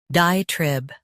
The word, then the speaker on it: diatribe: Trib, diatribe. Stress die and keep trib clear.